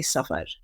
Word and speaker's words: Safar: I'm going to say Safar. Great. I should pronounce it the same way.